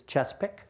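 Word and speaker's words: Chesapeake: It's not the Chessa Peak, it's Chespik.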